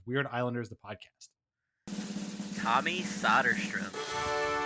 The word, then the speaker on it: Söderström: And Tommy Söderström jumped out at you. Why him? Well, first of all, you mentioned the pronunciation, Söderström or Söderström.